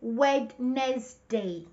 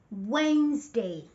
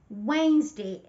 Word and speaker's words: Wednesday: Most students say Wednesday with three syllables, which is wrong. It's not Wednesday. No, that's wrong. The correct pronunciation is Wednesday. Wednesday. It has only two syllables, not three.